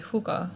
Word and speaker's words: hygge: It's spelled What is that? Hyggge. It's a Danish practice. So in Hyggge, hookah.